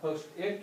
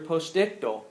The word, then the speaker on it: postictal: Postal stay or you can just put a recovery state for now. they go they're postictal, not postal but postdictal.